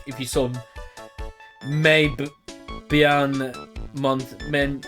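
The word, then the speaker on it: mais: like if you saw May be bian month men like there was one about but good sir but May's m a i s you actually just say may you don't pronounce the s and that's but so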